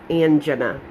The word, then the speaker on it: angina: He started me on a calcium blocker and a medication for angina. I'm sorry, it's hard for me to say that way, but my doctor said that's the proper way to say it.